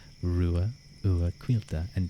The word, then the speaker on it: Ruadh: But it is pronounced, and thank you Haru for redeeming it. It is pronounced Rua Ua Quilta. Rua Ua Quilta.